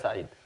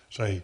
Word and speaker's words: Khaled Said: Khaled Said, is that the way we pronounce it? Khaled Said. Said.